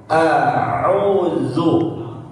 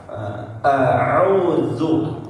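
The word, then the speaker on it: أعوذ: A'udzu, alif dan ain harus pisah ya, pembacaannya apa, cara melafalkannya harus berbeda ya. Terlebih huruf ain yang harus dimaksimalkan. A'udzu ya. A'udzu fa aqbala ba'duhum ala ba'd. Huruf ain harus dalam sekali ya, karena dia bagian dari huruf tenggorokan atau huruf halqi.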